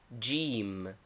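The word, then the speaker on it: جيم: pronunciation as in thing name gim equivalent J pronunciation as in English name equivalent H pronunciation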